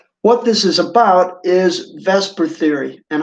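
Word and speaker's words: VSEPR: this is about is vesper theory and how to use it okay so it's spelled funny that's b s e per theory all right you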